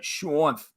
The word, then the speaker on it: Shanth: It is Shanth. So that's how it's pronounced.